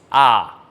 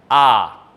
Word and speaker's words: ㅏ: So the vertical line with a little stick on the right side, this is ah, ah.